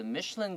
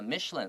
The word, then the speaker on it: Michelin: u，有的时候没有 u。英式的都会多一些字母，然后美式的会少一点点，所以 glamorous 就是指很亮眼的。所以整句话说，However, as the Michelin Guide grew more famous，慢慢的米其林指南变得越来越有名了。It started to focus mostly on high-end, expensive restaurant。它把主要的重心、评价、评级都是把它放在那些比较高档的这些餐厅上面，让大家认识更多这种高档餐厅。